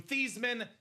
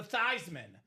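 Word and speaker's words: Theismann: So Joe Theman sold out for the Heisman Trophy, changed the pronunciation of his last name from Theman to Thyman so they can campaign Thyman for the Heisman.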